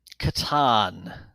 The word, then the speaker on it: Catan: How do you pronounce Klaus Teuber's game, The Settlers of? Catan, All and I right, even think from Indiana, you got it right.